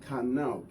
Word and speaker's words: qanna: Pronounced pronounced qanna.